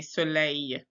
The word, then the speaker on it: soleil: And then soleil, we don't say that L. We say soleil.